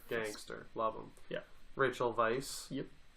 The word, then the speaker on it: Weisz: Rachel Weisz. Yep. As it's known that it's pronounced by everyone. Weiss. Wasn't learned by me 5 minutes ago.